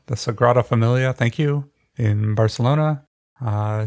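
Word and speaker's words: Sagrada Família: of cairo egypt i don't know how to pronounce this one the sagrada familia the sagrada familia thank you in barcelona uh saint basil's cathedral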